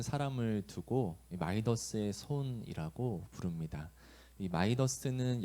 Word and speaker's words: 미다스: 어, 우리는 손만 대면 뭐든 성공시키는 사람을 두고이 마이더스의 손이라고 부릅니다.이 마이더스는 영어식 발음이고요. 그리스 신하에 나오는 인물의 원래 이름은 미다스 왕입니다.